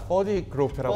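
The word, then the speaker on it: Ferde Grofé: 네, 거기서 이제 편곡자 페르디 발음 굉장히 어렵죠 이름이 페르디 그로페 이거 바로 페르디 그로페 네 그로페라는 이제 편곡자 퍼디 그로페라고 퍼디, 하는 사람도 퍼디 있고 퍼디 그로페라고 네.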